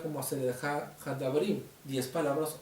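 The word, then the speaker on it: עשרת הדברים: Las 10 palabras o los 10 mandamientos conocidas en el hebreo se pronuncia como Aseret Hadabrim, 10 palabras o Aseret Hadibrot.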